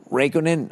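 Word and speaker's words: Räikkönen: by the way congratulations to max verstappen who won the formula one championship the first non-english non-german driver since kimmy uh raikkonen is how you say his name it's only a legend who retired today in 2007.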